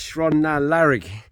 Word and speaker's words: Sron na Lairig: it a definite Beast I got told off it's shrond now larig is the thing we're